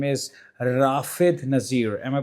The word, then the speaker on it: Rafid Nassir: His name is Rafid Nassir. Am I pronouncing it right?